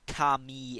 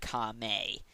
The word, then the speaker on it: Kame: Also, there are a few minor mispronunciations, like Kami instead of Kame.